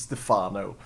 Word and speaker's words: Stephano: He's French. It should be pronounced as Stephano.